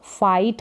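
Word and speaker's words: fight: improve करना सुधारना लड़ना फाइट करना क्या है लड़ना फाइट करना जी जी एच साथ में है यह साइलेंट है थिंक का मतलब सोचना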